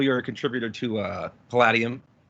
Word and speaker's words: Palladium: a contributor to uh palladium if i pronounce it not pelagium but palladium i think it's palladium but please don't quote me on that i've heard it both ways okay where would you